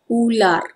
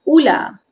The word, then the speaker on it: ular: Number six, snake is ular. This is formal pronunciation. Informal pronunciation, ular. Ular. R is hardly audible.